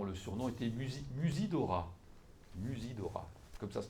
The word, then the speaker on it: Musidora: film là-dessus dont le surnom est était mus Musidora Musidora comme ça se prononce Musidora voilà et donc vous allez la voir parce